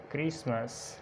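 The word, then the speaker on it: Christmas: उसके बाद टी से पहले अगर ई एफ या एस आ जाए तो टी साइलेंट होता है।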